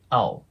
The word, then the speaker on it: I'll: んですけど、これ I'll とかっていう感じでは発音しないんですね。